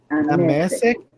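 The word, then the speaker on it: דַּמֶּשֶׂק: Damasco. Quase. É Damesek. Damasek é um lugar, é Damasco.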